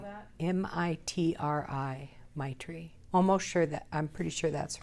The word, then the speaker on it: Maitri: I heard this wonderful Buddhist word, Maitri, which when translated means unconditional friendliness toward all.